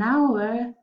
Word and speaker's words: hour: masa fija no porque la h no se pronuncia es uruguay a word y como no se pronuncia la h necesitamos decir ama war and ahora es esto de la frase outs an hour al ko en el